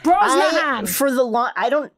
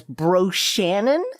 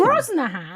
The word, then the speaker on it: Brosnahan: Which in my mind, I have always pronounced as Bro Shannon. I did Bro Hansen or something.